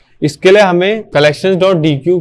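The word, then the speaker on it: deque: बट उसके अलावा main हम कलेक्शन डॉट डी क्यू या फिर कलेक्शन डॉट डेक जो होता है अगर उसको सही से प्रोनाउंस करें उसको हम यूज़ करते हैं।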